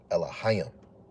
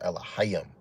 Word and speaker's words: Elohim: Elohim. It's going to say it wrong. It's saying it's saying Lol. When you really pronounce it in Paleo Hebrew, it's Elohim. Elohim.